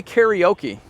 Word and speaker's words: karaoke: Hey Peter, how do you say karaoke? Karaoke. Karaoke, and that's the correct Japanese.